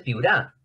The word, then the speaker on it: Piura: Entonces, es una palabra grave. ¿Por qué piura es una palabra grave? Porque acá está la tonicidad. La tonicidad lo tiene la penúltima sílaba.